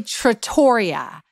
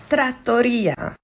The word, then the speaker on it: Trattoria: this is her tutorial first I say Trattoria it's Trattoria next I say austeria